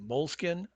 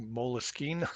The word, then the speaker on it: Moleskine: also heard them pronounced Moleskine. So yeah, so What's the controversy? Moleskin is an Italian brand. So Right, the Italians say, Moleskin, but right. you could just say Moleskin. It's okay.